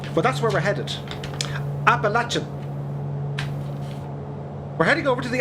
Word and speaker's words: Appalachian: dude happy wednesday to you this is the apollo chain mounts i don't know really great great name for plays just can't pronounce it but it's fine it's really it's fine um but that's where we're headed appalachian we're heading over to the appalachian mountains see